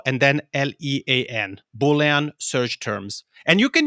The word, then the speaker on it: Boolean: know that you could use did you say bullion what is it called yeah Boolean okay so I think they come from like